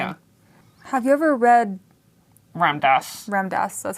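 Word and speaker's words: Ram Dass: Have you ever read Ramdas. Ramdas? That's how you pronounce it?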